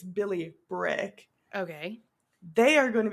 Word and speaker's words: Billy Bryk: I said the name wrong. It's Billy Brick.